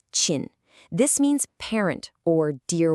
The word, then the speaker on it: 親: All right, next up we have Chin, pronounced Chin.